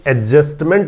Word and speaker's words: adjustment: सबसे पहली बात तो एक तो ये सीखिए कि ये एडजस्टमेंट बोला जाएगा, एडजस्टमेंट नहीं बोला जाएगा। जब ए और जे के बीच में डी आ जाता है तो डी का उच्चारण हमें नहीं करना है।